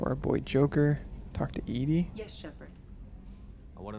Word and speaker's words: EDI: are you named edie edie is the phonetic pronunciation of edi that is an acronym for enhanced defense intelligence edie is pretty great